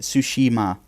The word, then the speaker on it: Tsushima: Is it Tsushima or Tsushima? Tsushima. Tsushima. Yeah. Well, anyway, I looked it up. That's how you say it. Tsushima.